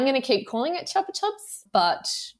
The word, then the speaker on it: Chupa Chups: so in fact in Spain they call it Chupa Chups chup this yeah chup that so I'm going to keep calling it Chupa Chups but Chupa Chups is the actual correct pronunciation I was thinking